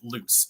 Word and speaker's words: Luc: So one character whose name is spelled L-U-C, you actually pronounce it loose, and no one gets it right the entire book, and it's a constant thing.